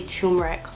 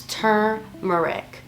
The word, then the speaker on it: turmeric: I would say turmeric. For some reason, I was not seeing the R. It's T-U-R, so it's turmeric.